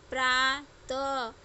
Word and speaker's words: प्रातः: और इसका उच्चारण ह की तरह बोला जाता है। जैसे अ, त, और इसमें विसर्ग लग गया तो इसका क्या उच्चारण हो गया? अतः। प्रा, त, और ये विसर्ग लगा हुआ है, इसको क्या कहेंगे?